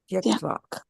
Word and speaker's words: त्यक्त्वा: You see how when you say tyak, notice while you're saying the word tyak, you notice where your tongue is. Tyaktvā. Tyak, right? And tva. Tva, right? Tyaktvā. Okay, good.